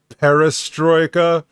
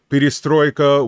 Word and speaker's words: perestroika: openness and they i most americans say perestroika but it's p destroyed a peristroika which means actually not